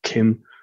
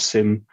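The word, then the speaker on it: CIM: So back in the days of PowerShell V3, the common information model, which I always used to sort of pronounce as KIM, but maybe it's SIM.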